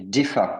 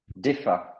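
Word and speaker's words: defer: oui et différ et DEFA le R ne se prononce pas encore une fois DEA donc DEA c'est remettre à plus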